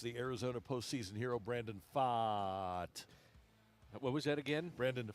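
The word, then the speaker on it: Pfaadt: the Cardinals against the Arizona postseason hero Brandon Pfaat. What was that again? Brandon Pfaat. How do you spell that?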